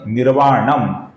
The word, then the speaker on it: निर्वाणम: साम, आगे का नाम है निर्वाणम, इसके अनुस्वार का हम म ऐसा ही उच्चारण करते हैं।